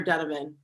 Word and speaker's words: Donovan: Actually, I should ask, do you pronounce it Donovan or Donovan? Either way, I pronounce it Donovan, but a lot of people pronounce it Donovan, so either way is fine.